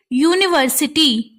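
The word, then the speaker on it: university: यूज करोगे एन का, लेकिन जब हम इसको साउंड के अकॉर्डिंग देखेंगे यूनिवर्सिटी, तो आपको साउंड किसका आ रहा है? यू का।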